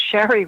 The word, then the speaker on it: Shari: Shari is spelled S-H-R-I, not Sherry. I say that because I have a cousin named Sherry. So it's Shari, has been counseling survivors